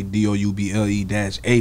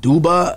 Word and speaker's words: Dubba-AA: a conv conversational starter like is it duba is it you know what i'm saying so double a you know what i'm